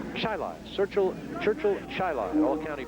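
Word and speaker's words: Chili: Chile C hi i l i but it's pronounced chai Cel Churchill chai All County basketball player as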